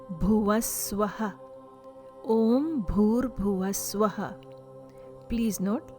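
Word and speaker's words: भूर्: Om Bhur Bhuva Swaha. Om Bhur Bhuva Swaha. Please note, letter B followed with H in Sanskrit sounds like bha sound, as in bhakti.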